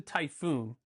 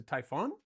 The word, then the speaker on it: Typhon: This is, I don't know, I thought it was the Typhoon, but I don't think that's how you say it. I think it's the Typhon, Typhon. There's only one O, not two, because I'm just silly,